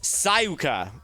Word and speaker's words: Sayaka: Sayaka is pronounced Sayuka.